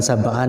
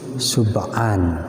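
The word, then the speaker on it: سُبْعًا: Ini bukan sab'an ya, tapi sub'an ya.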